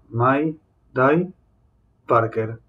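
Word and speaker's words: Mayday Parker: curioso quiero ser curioso Mike Parker así se pronuncia Mai dai Parker justo con el apellido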